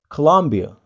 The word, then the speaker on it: Colombia: Kolombia kita ucapkan Colombia. Colombia. Colombia. Oh, Colombia. It is quite easy, guys.